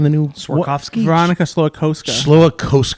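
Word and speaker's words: Veronika Slowikowska: Veronica Slowakowska. Slowakowska.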